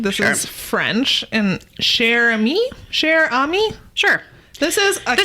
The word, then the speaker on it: Cher Ami: All right, I might pronounce this wrong. This Sure. is French and cher ami.